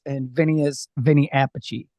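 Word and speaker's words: Vinnie Appice: pece and Vinnie is Vinnie Apache they like separate the pronunciation of their same name even though they're related correct I believe they're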